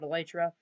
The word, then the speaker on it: elytra: call it whatever you like i call it elytra no i know it's pronounced it's supposed to be called elytra but that's just how i've always called it